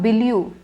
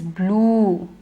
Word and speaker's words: blue: is my favorite color it's not Baloo or blue it is blue ooh stretch it say it with me blue